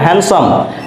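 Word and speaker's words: handsome: এস ও এম ই এখানে ডি থাকা সত্ত্বেও এর উচ্চারণ হবে না হ্যান্ডসাম হ্যান্ডসাম মিনস সুদর্শন বাজেট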